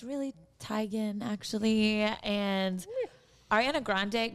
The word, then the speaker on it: Teigen: like that chrissy teigen is like it's really tigen actually and ariana grande grande is definitely correct but she pronounces it grandy and people always say register